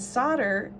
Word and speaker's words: solder: very very soft and solder um it's it's kind of funny because it's spelled s-o-l-d-e-r it's kind of got a silent l in it um and it